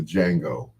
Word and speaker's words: Django: Jackson played in the Django. Well, the D is silent, I'm sorry.